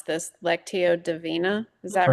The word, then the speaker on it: Lectio Divina: I'm probably going to mispronounce this. Lectio Divina.